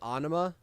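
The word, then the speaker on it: Ænima: Um, I would say Ana. That's how you pronounce it.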